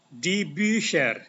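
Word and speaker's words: die Bücher: akan menjadi so begini dibuser cara bacanya dibuser debuser itu artinya buku-buku itu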